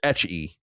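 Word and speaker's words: ecchi: Etch rhymes with the English word sketch. So etchy.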